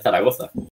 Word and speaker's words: Zaragoza: Los españoles pronuncian la Z y sería Zaragoza.